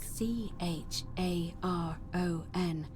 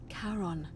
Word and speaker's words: Charon: if we were a dude or a chick c h a r o n as in caron the ferryman of the dead that's awesome karen charon okay exchange for the right coin helps